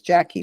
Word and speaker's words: Jacci: um under my name which is Jackie but it's spelled funny j a c CI um and I